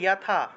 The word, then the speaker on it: যথা: स्वकर्म निरतः सिद्धिम যথা, উচ্চারণ হবে যথা, যথা বিন্দতি তচ্ছৃণু, তচ্ছৃণু।